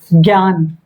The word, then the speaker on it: ज्ञान: नेत्र बहुत सारे हुए ज्ञ से ज का य का लेकिन इसका उच्चारण ज्ञ के सॉरी ज्ञ के जैसा आता है। ठीक है? ज्ञान ज्ञात विज्ञान श्रा का